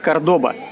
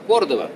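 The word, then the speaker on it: Córdoba: прямо с Ээ товарищ Кордоба ты откуда с какого кордоба кордова да потому что в принципе мы настоящие мы настоящие испанцы говорим Кордова кордова потому что по-испански правильно кордова понял хотя в принципе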